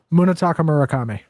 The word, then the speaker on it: Munetaka Murakami: Munetaka Murakami.